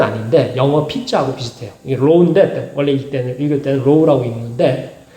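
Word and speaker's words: rho: 이게 로우인데 원래 읽을 때는 로우라고 읽는데, 그러니까 이 두 글자를 가지고 이 두 글자를 뭐예요?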